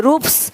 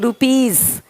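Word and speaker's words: rupees: जैसे कि यहाँ पे रूप्स, यहाँ ज साउंड नहीं आएगा, लेकिन यहाँ पे एक्स नहीं एग्स। हीरोज, हीरोस नहीं, देख रहे हो, रुपीस नहीं रुपीज, ज का साउंड आ रहा है हल्का सा।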